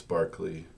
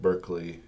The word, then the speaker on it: Berkeley: way um British people assure me that it's Barkley you know it looks like Berkeley as in UC see Berkeley in the city in California named Berkeley but he was British so we have to um allow that the British are correct when they say Barkley um just to give